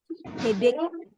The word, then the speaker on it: headache: Banyak yang bacanya masih salah ya, masih dibacanya headache gitu ya. Nah, padahal kita bacanya seolah-olah bunyi terakhirnya itu bunyi K, headache gitu ya, headache.